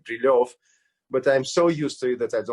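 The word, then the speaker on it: Брилёв: Brilev, Dr. Brilev, although in Russian it is, of course, pronounced like Brilov, but I'm so used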